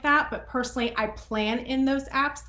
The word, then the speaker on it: Plann: I personally use Plan. It's spelled Plann.